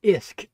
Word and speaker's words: Usk: It's Carlian onusk or Isk as it's called. The U is pronounced as an I actually. Okay. So, um the Isk River is uh you